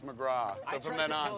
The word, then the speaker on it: McGrath: say that she's like it's not McGrath its McGraw heard that we shared